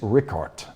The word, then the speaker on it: Richard: If we're going to use the true German pronunciation, it is Richard.